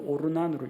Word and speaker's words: 오르난: 아라우나나 오르난이나 자음은 다 똑같습니다. 모음을 어떻게 하느냐에 따라서 발음이 조금씩 달라지는데 아라우나라고 읽기도 하고 역대기상에서는 오르난으로 읽기도 합니다.